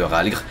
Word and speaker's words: Rhalgr: subi un entraînement particulier pour s'approcher spirituellement de Rhalgr, le destructeur. Remarquez que je prononce bien son nom maintenant.